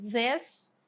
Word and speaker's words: this: A diferença é que a primeira é pronunciada como this, com som de E, this, e esse aqui é pronunciado com som de I, que é these.